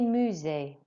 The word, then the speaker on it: musée: Visiter des châteaux et des musées. Okay. Visiter des châteaux et des musées. It's not a mia sound, it's a mu. Musée.